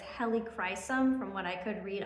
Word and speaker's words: Helichrysum: I actually I think I've been mispronouncing it as helicum, but it's helicum from what I could read online.